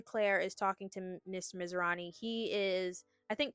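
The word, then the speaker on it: Masrani: But after that, we are introduced to Mr. Misirani, is how they pronounce it.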